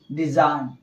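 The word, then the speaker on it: design: एन के पहले से आया जी क्या होगा साइलेंट होगा तो क्या पढ़ेंगे डिजाइन है ना डिजाइन इस तरह से यह भी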